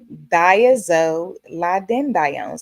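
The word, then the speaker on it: thiazolidinediones: The classification is diazolidinediones. That's a long one, right? Diazolidinediones. I had to look that up, guys. That pronunciation is diazolidinedi. I'm sorry, I'm saying it wrong again. Diazolidinedione. There it is. Diazolidinediones.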